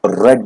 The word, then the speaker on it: read: READ, इसका देखिए जो प्रोनाउंसिएशन है, जब हम इसको V3 फॉर्म के रूप में यूज करते हैं तो इसका प्रोनाउंसिएशन हमारा रेड हो जाता है, RED रेड, ये याद रखिएगा।